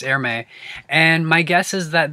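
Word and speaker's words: Hermès: is uh the the is it air may i think it's pronounced air may um i want to say hermes but it's airme and my guess is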